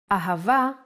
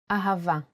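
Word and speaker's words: אהבה: The word Ahava uses it in both ways. When Hey appears in the end of the word, it will always sound as Ah. Ahava is love in Hebrew.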